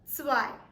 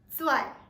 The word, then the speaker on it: zwei: Paying close attention to the pronunciation of the Z that comes in the spelling of zwei, it is very essential to emphasize a little bit on the T. It's not zwei, instead it is zwei.